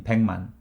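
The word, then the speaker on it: 백만: thousand sahaja man likewise 1 million is pac-man which means there are 100 months in pangman because of pachim morphing sound rule we learned in season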